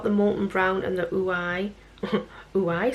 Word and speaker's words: Ouai: Is it pronounced Ouai or Ouai? Ouai or Ouai? Spelled O-U-A-I. Ouai, I think it's called Ouai. As in Y-I, Ouai.